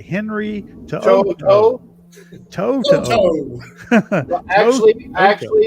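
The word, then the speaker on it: To'oTo'o: But 5th round, 144, linebacker out of Alabama, whose name I love to say, Henry Toto. Toto. Well, actually, it's Toto.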